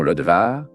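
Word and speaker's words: Lodebar: Le nom Lodbar, dans sa prononciation Lodvar, a indiqué un endroit sans pâturage.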